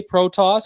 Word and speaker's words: Protas: Alexei Protas, is how it's pronounced.